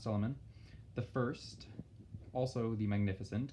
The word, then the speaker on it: Suleiman: But the reign of Sultan, which is like their king, Sultan is king, you should probably know that, Sultan, S-U-L-T-A-N, Sultan Suleiman, pronounced Suleiman, the first, also the Magnificent, because one title is not enough.